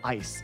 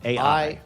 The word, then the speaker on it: AI: AI. Oh, AI. But you pronounce it I because you're a dream cop, right?